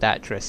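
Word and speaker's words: Atrus: I've decided to call it Atris, and the reason I remembered it was Atris is because I remember it rhymes with mattress.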